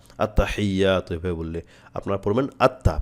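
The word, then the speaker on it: التحيات: আপনার সহি হবে একসাথে পড়তে গেলে অনেক ক্ষেত্রে উচ্চারণটা আসতে চায় না আত্তাহিয়াতু এভাবে বললে আপনারা পড়বেন আত্তা প্রথমে বলেন আত্তা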